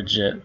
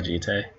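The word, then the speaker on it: Jitte: Or Jit, or Jite, or Jita, or however you want to pronounce it. I like Jite. Sounds correct.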